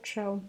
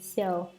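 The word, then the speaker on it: 臭: The word for stench in Chinese is produced xiao or chou. Basically, it should be pronounced chou here, but when people hear that word, they immediately get a bad impression. So here we will pronounce it xiao.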